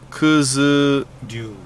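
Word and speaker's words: 九頭竜: Kuzu Ryu.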